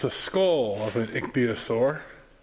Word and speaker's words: ichthyosaur: This may just look like rocks, but these are fossils of an ichthyosaur, is how it's pronounced.